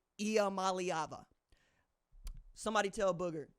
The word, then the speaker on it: Iamaleava: Iamaleava. Somebody tell Booger it's okay to pronounce that boy's name and get it wrong.